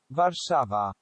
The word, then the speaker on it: Warszawa: also it's Warsaw in English in Polish they'd pronounce it was sold ok in Polish it's warszawa receiver that's where it is in Polish and